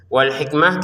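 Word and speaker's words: والحكمة: Wal hikmah kita baca hikmah padahal di sini ta. Kenapa? Karena kita berhenti. Jadi wal hikmati kita bacanya wal hikmah. Huruf ha ini menjadi huruf A karena kita berhenti. Kalau disambung yang ke berikutnya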